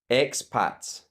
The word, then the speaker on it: expats: Just ignore the e. Just think of the letter x. Expats.